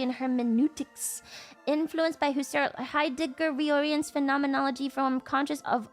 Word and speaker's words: Heidegger: Heidegger.